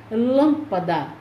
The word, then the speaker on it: lâmpada: sílaba tônica é mé lâmpada a sílaba tônica é lan então nesta nestas palavras